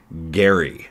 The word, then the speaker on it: Gerry: they probably will that we actually don't even pronounce that right Jerry mandering is is named after one of our American vice presidents his name was actually Elbridge Gary g r r y somehow we stopped saying Gary mandering and started saying